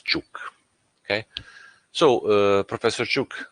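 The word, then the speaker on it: Ćuk: different uh spelling okay but the pronunciation is chuk okay so uh Professor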